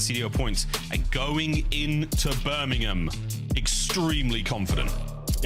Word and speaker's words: Birmingham: And it's you say it right and it's Birmingham. Not not Birmingham. Not Birmingham. There's no there's no bo don't no pork involved. It's it's Birmingham. Birmingham.